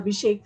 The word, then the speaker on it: Abhishek: co-partner in excella fiduciary i hope abhishek i have pronounced it correctly absolutely ma'am it's perfect and he has for